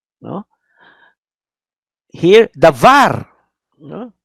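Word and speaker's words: דבר: Here, davar. No? Notice the bet there, davar. No? Davar. Not davar, but davar, because last syllable.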